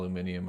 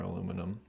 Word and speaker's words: aluminium: Oh yeah, people say alum al aluminium or aluminum. I think that's mostly like a British version of aluminum.